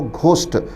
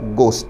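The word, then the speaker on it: ghost: हमारे यहाँ बहुत सारे बच्चे इसको घोस्ट करके प्रोनाउंस करते हैं. इसका सही प्रोनाउंसिएशन घोस्ट ना होकर गोस्ट है. उसका कारण अंग्रेज़ी के स्वर विज्ञान फोनेटिक्स में घ ध्वनि नहीं है, तो सही प्रोनाउंसिएशन होगा गोस्ट्स, भूत.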